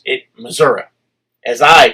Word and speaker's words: Missouri: up and stood up he said preacher thank you I said okay for what he said for saying it right I said okay one to say he said you said in Missouri he said I'm tired of all these Yankee preachers coming down here and say Missouri he said is Missouri